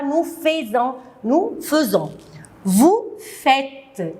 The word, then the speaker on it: faites: Vous faites. Je ne dis pas vous faisiez, vous faites. Ils, elles font O-N-T.